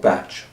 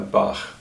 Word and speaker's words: Bach: came to be that he is often called batch but I prefer ba but it's not the